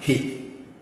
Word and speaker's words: He: So this is he. Letter H, like H sound. He.